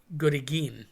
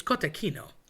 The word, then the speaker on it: cotechino: People say gorigin. Again, I think that's a Philly thing. It's cotechino.